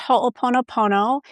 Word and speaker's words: Ho'oponopono: It's It's kind of around the Pacific Rim in slightly different versions and it's pronounced Ho'oponopono and it was introduced to me because there's